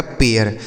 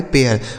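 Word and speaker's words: pair: आपको बताया कि इसी आर की वजह से उच्चारण बदल रहा है। तो यहां पर भी इसी आर की वजह से उच्चारण इसका बदलेगा।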